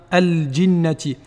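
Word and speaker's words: الْجِنَّةِ: Eh bien, lorsque le lam contient un soukoun, on doit le prononcer comme dans al-qamar ou bien al-jinnati.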